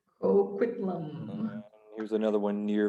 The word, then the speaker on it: Coquitlam: It's pronounced Coquitlam. Oh my gosh. Coquitlam. Coquitlam.